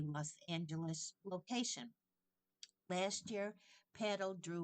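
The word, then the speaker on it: padel: year when it became a place to play paddle.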